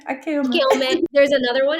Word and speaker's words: 明けおめ: 明けおめ. Akeome, akeome. 明けおめ.